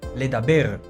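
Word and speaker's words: לדבר: Comencemos aprendiendo el verbo hablar, que en hebreo lo pronunciamos leaber y lo escribimos lamed, dalet, bet.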